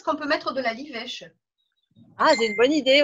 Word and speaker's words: livèche: Ah, la livèche. Ça s'écrit comment? L-I-V-E accent grave C-H-E. D'accord, bibèche. Livèche. Oui, avec un L, Juliette.